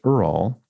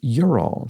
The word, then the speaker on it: Ural: Mark Owens says, just like Ute, UTE, is pronounced Ute as though it had a Y. Ural, Ural, which I mispronounced Ural, as in the Ural Mountains, is pronounced Ural.